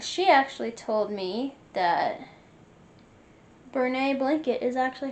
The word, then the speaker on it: Bernat: And she actually told me that Brene blanket is actually how it's pronounced.